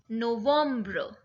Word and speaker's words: novembre: But the pronunciation is absolutely different. So September is septembre. October, octobre. November, novembre. And December is décembre.